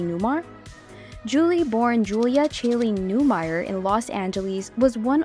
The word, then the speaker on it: Newmeyer: One interesting consequence of her involvement in the movie was the realization that people frequently mispronounce her birth name, Newmeyer, as Newmar.